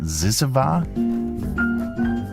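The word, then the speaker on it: Zyzzyva: Is that how you pronounce it? Zizava?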